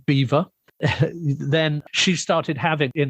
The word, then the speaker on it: Belvoir: It was created by the Duchess of, it's spelt Belvoir, but it was pronounced Beaver.